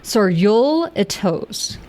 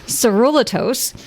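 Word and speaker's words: Sorullitos: Saruliatos. I would say saruliatos saruliatos saruliatos.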